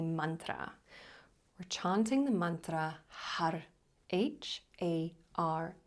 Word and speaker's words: Har: We're chanting the mantra Har, H-A-R. When you say the R, you're rolling your tongue onto the palate behind the teeth, so it almost sounds like Had. So Har is how we pronounce it.